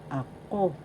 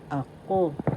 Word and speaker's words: ako: The second syllable has the accent. So you pronounce this or because ako ako that is I or me that means possessive case.